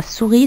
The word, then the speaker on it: souris: va l'entourer la souris la souris la même chose et s'écrit avec un s si tu lettres muettes